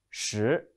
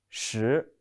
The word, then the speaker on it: 十: The pronunciation is 十. 跟我读十.